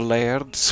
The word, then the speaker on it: laird: says part of the laird's famous artist residency program you've got to roll your r's on laird which it just doesn't work are you sitting on